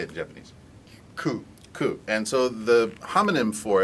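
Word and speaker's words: 九: Ku.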